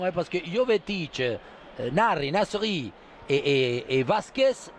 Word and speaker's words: Nasri: dans le foot espagnol, on l'appelle Narri, on l'appelle en espagnol. Hein. La S, ils ne veulent pas prononcer. Et j'imagine, et j'attends, hein, parce que Jovetic, Narri, Nasri et Vasquez, 3 numéro 10 d'excellente qualité technique.